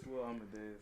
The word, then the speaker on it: Will Amadeus: Today we're sitting here with, how do you pronounce your name, bro? Is it Will Amadeus? It's Will Amadeus. See that? I've been saying it right that's then.